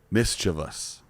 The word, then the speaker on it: mischievous: they're being they're mischievous mischievous is the pronunciation yeah i know this read that before that and i've never thought about it like actually sounding it out that we add an